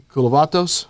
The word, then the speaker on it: Koulovatos: And again, normally the trio's here, but today it's me, Mike Hendren, it's Trey Serrala, and our very special guest, Koulovatos.